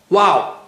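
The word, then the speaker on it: واو: Well, how do you say Waw? You say it with your lips, with round lips. Wow.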